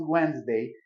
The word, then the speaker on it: Wednesday: Wednesday, sobre todo porque cuando la pronunciamos y pronunciamos Wednesday y de repente vemos cómo se escribe, pues a veces como que no nos resulta tan lógico.